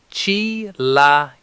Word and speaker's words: chilaquiles: First syllable, the high-spirited shout of cheer, chi. Second syllable, a relaxed singing note sound like la. Third syllable, what you use to unlock a front door, a key. Fourth syllable, sounds like the less and lesser or like the first part of lesson. Snap them together fast with the stress on the third part.